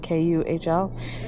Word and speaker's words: Kuhl: How do you pronounce that? Kuhl.